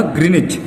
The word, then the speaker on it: Greenwich: उन्होंने रख दिया था ग्रीनिच। नाम क्या था इसका, ग्रीनिच, GREENWICH। आपको कई बार इसका प्रोनाउंसिएशन आपको कुछ लोग ग्रीनविच बोलते मिलेंगे, लेकिन वो प्रोनाउंसिएशन गलत है, इसका नाम ग्रीनिच होता है, ग्रीनिच।